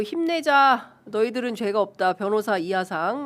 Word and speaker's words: 이하상: 그 사진 좀 올려주시면 좋을 것 같은데 한쪽에서는 자랑스러운 배제고 힘내자 너희들은 죄가 없다 변호사 이하상 뭐 이런 이화상. 이하상입니다. 네. 이하상. 혀가 짧아서 그래요.